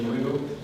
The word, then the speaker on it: Bruno: If you want to pronounce it like the French, you can say Bruno.